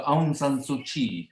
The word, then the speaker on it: Aung San Suu Kyi: So Aung San Suu Kyi is the pronunciation of that name, although it's written somewhat differently in the English language, but let that be.